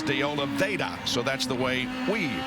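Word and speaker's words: de Oliveira: get letters saying oh you pronounced his name wrong because there's an r in there it should be deola Vera but he says deola vaa so that's the way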